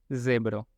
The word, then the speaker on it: zebro: En este caso tenemos zebro. Acordémonos que es con esta vibración, es como za. Entonces, zebro.